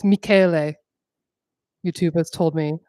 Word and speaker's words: Michele: It's Michele. YouTube has told me. I've been saying Michelle because I'm lazy, and I don't ever say names out loud.